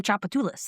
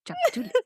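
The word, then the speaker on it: Tchoupitoulas: I mean just look at the street name Chapatulus. That starts with a T. Yes. That's my favorite. I know it is. Chapatulus.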